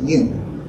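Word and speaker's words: יוד: U-D, you'd pronounce it Yud.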